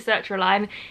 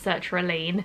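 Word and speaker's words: sertraline: my journey with search reliane i call it circular line it's actually pronounced search relean so if i say search reline just ignore me if you don't know what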